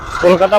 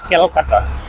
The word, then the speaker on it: কলকাতা: হলেও দুইটার মধ্যে পার্থক্য আছে তো এজন্যই আমরা কলকাতা বললে তারা বলে ক্যালকাটা একচুয়ালি আগে বাংলা উচ্চারণটাও ছিল ক্যালকায় পরবর্তীতে ইন্ডিয়ান সরকার সেটাকে কলিকাতাতে